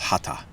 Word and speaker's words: hatha: It's supposed to be pronounced hatha, like Tathagata is. People say Tathagata sometimes. That's another name for Buddha. But the TH is supposed to be pronounced like a T sound.